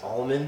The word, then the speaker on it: almond: Do you say almond or almond? Oh, almond. Almond. Wait. Yo, No. you're doing the most. Almond. Like. Almond. Almond. Oh shit. Almond. The L is silent.